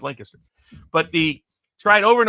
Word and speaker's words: Lancaster: me repeatedly it's pronounced Lancaster okay apparently that's some sort of English thing by the way apparently